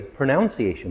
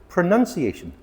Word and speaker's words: pronunciation: Because a lot of people say pronunciation because it comes from the verb to pronounce, but it's not pronunciation. It is pronunciation.